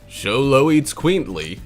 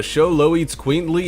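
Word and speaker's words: Xoloitzcuintli: barely be able to pronounce show low eats queenly there are plenty of ways this pooch is one of the rarest in the world show low that's how you say it yeah if i've got it right the breed comes in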